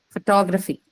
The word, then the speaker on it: photography: a noun by itself see how the stress is shifted from the first syllable to the second one right so it was